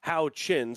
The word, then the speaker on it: Huchin: going to be John Huchin out of Bloomington, Indiana. And apparently his last name is pronounced How Chin, so keep that in mind this season.